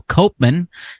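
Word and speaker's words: Koopman: on them is friend of the show Phil Copan not pronounced cman even though that's how his name is spelled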